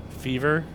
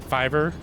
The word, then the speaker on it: Fiverr: R is it f how do you say that F it's f i v r r I think that's yeah I believe that's the website fever Fiverr so Fiverr yeah that's